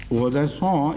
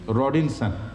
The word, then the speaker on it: Rodinson: Rodinson is the French pronunciation. He is a French writer. The English pronunciation would be Maxime Rodinson.